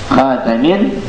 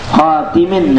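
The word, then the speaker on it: خاتم: khatamin atau khatimin nabiyyin, bi fathit ta boleh, khatam, wa kasriha atau kasrah, khatam atau khatib, wal kasru ashhar, tapi yang kasrah lebih apa, lebih masyhur, ya, lebih masyhur bacanya khatimin nabiyyin daripada khatam.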